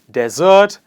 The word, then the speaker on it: desert: Desert and dessert. This is desert, pronounced as de. The first sound, the first syllable in the word starts with an e sound.